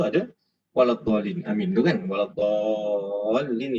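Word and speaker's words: ولا الضالين: Waladhdallin itu mad lazim kalimi musaqqal. Jadi bacanya 6 harakat dan ada tasydid bersabdu. Waladhdallin.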